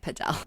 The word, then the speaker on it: padel: too crowded, we recommend paddle. We're not pronouncing it padel, but that's that's how you say it in Spanish.